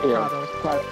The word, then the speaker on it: Kratos: It's spelled Kratos like Kratos from God of War, but they pronounce it Kratos.